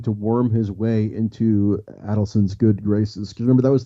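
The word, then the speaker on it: Adelson: Adon um but anyway I was given a shorthand hint on how to pronounce his name which is it's adelon not adelon because and you remember that with the uh with the reminder that he adds up his money so it's Adon yeah which is Chinese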